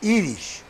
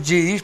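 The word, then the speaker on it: ייִדיש: yidis pero pero o como ellos dicen el idish idish nosotros decimos yidish porque pronunciamos la griega Pero ellos dicen idish Sí sí es Eso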